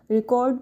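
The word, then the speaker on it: record: जैसे रिकॉर्ड। रिकॉर्ड को noun और वर्ब में अलग-अलग तरीके से हम प्रोनाउंस करते हैं। जैसे वर्ड जैसे रिकॉर्ड। इट is verb because the stress is ऑन द सेकंड syllable.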